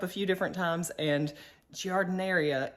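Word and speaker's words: giardiniera: few different times and jardineria is the way that you're supposed to say it so let's take a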